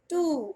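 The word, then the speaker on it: two: GWO, टू, और टू में भी W होता है साइलेंट।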